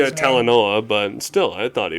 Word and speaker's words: Talanoa: Well, that's because of how do you pronounce his name? Talanoa, but still, I thought he was pretty good.